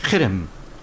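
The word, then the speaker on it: חרם: 이루어진 역사였고 진멸 있니다 진멸 헤렘이라고 이렇게 반으로 발음을 하는데 히브리어로 헤렘 강한 신인데 이건 이런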